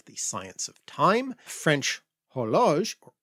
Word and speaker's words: horloge: French horloge, or horloge. Horloge, yes. Horloge. We do not pronounce H. We don't pronounce the H, sorry about that.